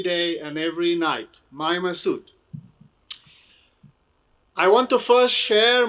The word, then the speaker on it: Massoud: hero, Commander Massoud, Chief Massoud, but let me pronounce his name in purity without all these adjectives that we have given it, Massoud.